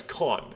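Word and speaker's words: 間: Oh, it's pronounced ma.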